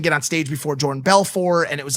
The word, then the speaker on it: Belfort: jordan belfort he's jewish there's no silent t he's not from france like a french name so he calls him jordan belfor i knew he was